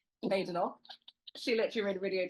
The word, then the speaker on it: Badenoch: a known figure, Kemi Badenoch, whose name I learnt this week is not Badenoch, because there's no bad in her name, as she says. Badenoch.